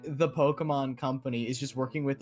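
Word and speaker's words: Pokémon: So it's just like Pokemon, right? That's it. Technically, the like E with like the accent is like an A sound, like in Pokemon.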